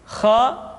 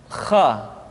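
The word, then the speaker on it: خ: Selanjutnya adalah huruf kha. Kha dikeluarkan dari pangkal tenggorokan. Kha, pangkal tenggorokan. Diucapkan dengan mengalir nafas. Atau lebih praktisnya, pengucapan huruf kha persis terdengar seperti orang yang tidur dalam keadaan mengorok.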